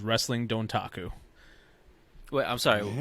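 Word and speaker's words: Dontaku: sorry say that one that's why i pause you say wrestling don't taco taco so i'm going to spell it out for you ready d-o-n-t-a-k-u all one word wait can i get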